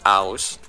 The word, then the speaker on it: Ouse: name is and I just took the first two letters which is like a with a comma and s and it's pronounced house so I just like